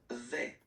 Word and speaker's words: vais: je vais. Je Okay, vais. so remember, I final go. S not pronounced Je here. vais. Je vais. Okay, when you combine this A-I, you get the sound E, really open.